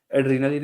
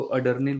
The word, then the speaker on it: एड्रेनालिन: हूँ यूपी बिहार से, वो हमेशा एड्रेनालिन इंजेक्शन को प्रोनाउंस करने में गलती करते हैं। वो अडर्निल बोलते हैं, मुझे पता नहीं क्यों बोलते हैं अडर्निल। तो अब या तो उन्होंने अडर्निल ही पढ़ा है या जो भी, लेकिन सभी सभी अडर्निल बोलते हैं।